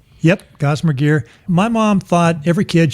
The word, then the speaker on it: Gossamer Gear: Am I pronouncing that right? Yep, Gossamer Gear.